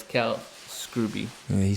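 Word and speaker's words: Scruby: underground it's pretty dope that's scrooby not scooby yeah s-c-r-u-b-y i thought it was scrubby but in a recent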